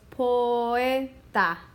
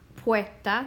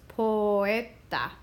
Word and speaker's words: poeta: So they actually separate into two separate syllables. So actually three syllables when you put them all together, because this last is a syllable, but the O is a separate syllable from the E, and it has two sounds. So it's poeta. It's not poeta. That would be what it would sound like if they were all together. It's poeta.